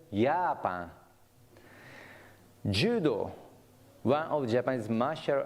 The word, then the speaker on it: Japan: as yacht Japan is spelled j-a-p-a-n as in English but pronounced yapa Judo one of Japan's